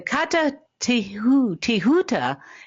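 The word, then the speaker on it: Kata Tjuta: rip yeah uh the Kata tuuta in Australia uh it's spelled k a t a and then there's a second word is tju ta so just to spell it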